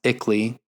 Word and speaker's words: ICLEI: locally around the world iclei pronounce Italy brings the international into